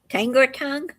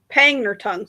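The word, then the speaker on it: Pangnirtung: Tangor tongue. Pangner tongue. They say called pang p g.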